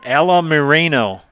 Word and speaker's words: Alamarino: Yeah, it's a unique last name. I can pronounce, and it's pronounced Alamarino. Lila Alamarino.